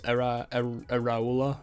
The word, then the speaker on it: Iraola: I think it's Iraola that it's pronounced.